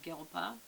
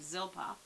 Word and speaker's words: Zilpah: another son out of gilpa zilpah sorry i said it wrong zilpah and she named him